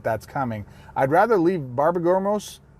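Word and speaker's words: Borborygmos: I'd rather leave Barbergamos. How do you say his name? Borborgamos.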